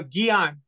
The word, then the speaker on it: Guion: pronounce it again oh Geon Dion Dion yeah but you can just go by I mean uh yeah it's really hard uh it's not hard yeah it's a French name so in America you